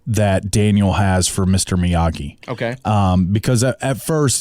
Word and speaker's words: Miyagi: point of everybody mispronouncing miyagi's name cuz Daniel says Miagi several times and then he corrects him no it's Miyagi okay and then other characters